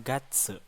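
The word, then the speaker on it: 月: sekarang kita lanjut ke materi bulan-bulan dalam bahasa Jepang itu dibacanya Gatsu Nah untuk penyebutan bulan dalam bahasa Jepang itu cukup mudah jadi tinggal nanti kita Uraikan saja Mah bilangan dari 1-12 lalu kita tambah Gatsu Nah tapi di sini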